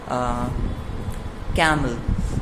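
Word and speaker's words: camel: कैमल, जो कामल होता है आपका सही प्रोनाउंसिएशन से कामल होता है।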